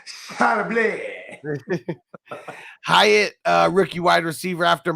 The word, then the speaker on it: Charbonnet: And pronounced Charbonnet.